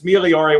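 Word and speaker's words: migliori: correct me but anyways it's miliori with the soft g and like the hard german g of boger um which is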